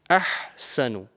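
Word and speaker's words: أَحْسَنُ: So the first one is the ha from the middle part of your throat, and the correct pronunciation is ahsanu.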